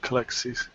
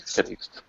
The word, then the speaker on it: Calixt: And then she will look back at Kalexis. Am I pronouncing it right? Calixt. You can pronounce Calixt.